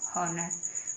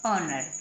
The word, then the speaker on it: honour: HONOUR, क्या बन गया, हॉनर। हॉनर, क्योंकि एच को हम है पढ़ते हैं, हॉनर होना चाहिए, लेकिन नहीं, एच को हम है नहीं पढ़ेंगे, एच को हम ए पढ़ेंगे, बन गया ऑनर, क्या बन गया, ऑनर।